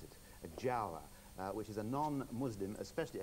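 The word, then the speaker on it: giaour: It depends how you pronounce it. Jawa. Which is a non-Muslim, especially a Christian, and it's spelled G-I-A-O-U-R. G-I-A-O-U-R. Jiao.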